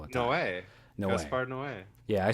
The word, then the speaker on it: Gaspar Noé: Gaspar Noé.